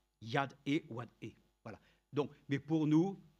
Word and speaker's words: YHWH: YHWH se prononce Yad-E-Wad-E.